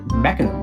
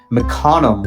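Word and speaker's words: Mecanum: were mechanical wheels invented some people pronounce it mechanism wheels other people pronounce it mcconnum wheels so maybe that's a hint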